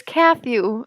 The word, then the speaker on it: Kathew: It's Kathew, yeah, as in Matthew, but Kathew, and it's spelled like Matthew, but with a K Mhm. instead of an M.